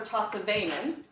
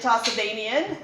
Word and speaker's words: Tossavainen: So my name is Tossavainen. I get lots of mispronunciations of it. My apologies. No problem. I get Tossavainian, and sometimes I get Tasmanian, but I'm not sure that that's not on purpose.